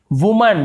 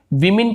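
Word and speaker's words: women: वुमन, वुमन यानी एक औरत, और उसी प्रकार से इसे विमेन पढ़ेंगे, वुमेन ऐसे नहीं पढ़ेंगे, विमेन, इसे विमेन पढ़ते हैं, विमेन यानी एक से ज्यादा औरत।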